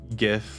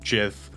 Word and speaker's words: Gyth: Okay, so there is a very rare drop that happens here off of Gyth or Jith, however you want to pronounce it.